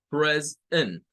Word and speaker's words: present: Pero nótese la diferencia en el inglés, que agrega la S. Después de haber agregado la S, viene una segunda sílaba que es la E y la N, con el schwa. Esa E suena a schwa.